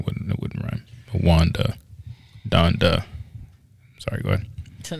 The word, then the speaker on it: Donda: wanda then i wouldn't it wouldn't run wanda donda i'm sorry go ahead until now you said